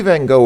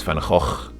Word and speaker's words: Van Gogh: Well, we say Van Gogh in English. I think the actual Dutch pronunciation of his name is Van Gogh. Or something like that.